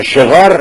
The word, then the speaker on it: شغار: کنیم و عرف بعدهم شغار به کسر شین یعنی برخی همین شغار رو به همین واژهای که من تلفظ می‌کنم با کسرهای که در زیر شین گذاشته میشه یعنی شقار و شقار